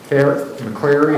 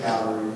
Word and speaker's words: McAllery: McCleary, do you pronounce it McCleary? How do you? No, it's McAllery. McAllery, okay, sorry.